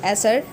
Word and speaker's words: acer: Pronunciation of this Latin word is acer, which means sour.